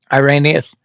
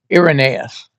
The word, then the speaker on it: Irenaeus: Irreaneous. Irenaeus. You'll hear me mispronounce more words, a lot of words if you ever uh listen to me for any length of time.